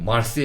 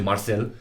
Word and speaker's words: Marseille: Because in French, it's French word, so VERSEILLES, so IELLES, French, just like Marseille, you don't say Marcel.